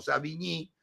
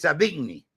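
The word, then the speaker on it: Savigny: mundo occidental fue savigni se escribe savigni más parece alemán pero era francés Perdón era alemán Entonces en realidad se lo pronunciaba y se lo conocía como savii pero es savigni y es alemán él comentaba y elaboraba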